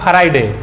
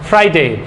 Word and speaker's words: Friday: मतलब होता है तलना, इट्स नॉट फ्राइडे, इट्स फ्राइडे। जब हम फ्राइडे बोलेंगे तो हमारा लिप्स जो होगा वो कहाँ टच करेगा, इट विल टच, जो लोअर लिप है अपर टिप को टच करेगा, बोलेंगे फ्राइडे, फ्राइडे।